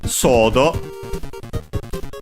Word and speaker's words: ソード: Sodo, from English sword, should be accented on the first one, but I'm pretty sure